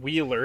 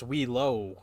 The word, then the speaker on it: Wheelo: it's not Wheeler, it's Wheelo.